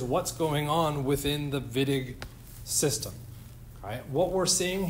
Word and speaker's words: Wittig: That's German. I pronounce it like a W. But in any case, we say Wittig, which means it's a named reaction.